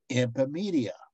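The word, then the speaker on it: Iphimedeia: And the name is, I'll spell it out, I-P-H-I-M-E-D-E-I-A. Epimedia.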